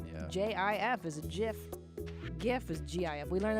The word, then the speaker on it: GIF: pronounced GIF, but Is that right?